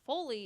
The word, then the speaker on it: foley: know if it's cell to say no is foley how do you spell that f-o-l-e-y yes okay no this is folly